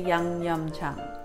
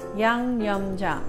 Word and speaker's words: 양념장: And I'm going to phonetically teach you how to say YangYeomJang. Yang, Y-A-N-G, Yang, Yum, Y-E-O-M, Jang, J-A-N-G, Jang. YangYeomJang.